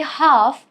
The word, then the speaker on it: half: For example, why do we say half without pronouncing the letter L?